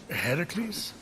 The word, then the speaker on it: Heracles: are you doing there that thing with your voice heracles yeah that that is how it's supposed to be pronounced seems like a lot